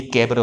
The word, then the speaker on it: cabaret: तो ये कैबरे हो गया, इसमें टी साइलेंट होता।